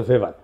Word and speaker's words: ভেভার: এটা ওয়েভার বলে অনেকে। এটা উচ্চারণ আসলে ভেভার।